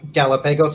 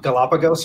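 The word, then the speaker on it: Galápagos: got um galapagos as the famous galapagos islands not galapagos apparently as everyone else pronounces it oh really they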